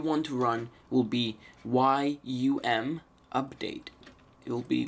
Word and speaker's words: yum: from now on out this pronounce this as young for you I'll just say yum yum install HTTP D